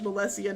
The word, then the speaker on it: Melessia: My middle name is pronounced Melessia, not Melissa.